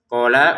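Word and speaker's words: قَالَ: Nah, qola qo dua harakat lam tidak panjang.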